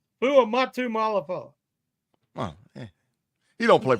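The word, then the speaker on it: Fuamatu-Ma'afala: Chris Fatamula Malafala. Shannon, tell him how to say it, Shannon. It was Chris Fuamatu Malafala.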